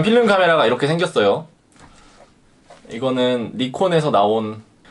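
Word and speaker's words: Nikon: 이거는 니콘에서 나온, 외국분들은 나이콘이라고 발음을 하더라고요.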